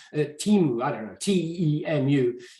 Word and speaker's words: Temu: It's not, I guess it's not Temu Chinese, but Temu, I don't know, T-E-M-U.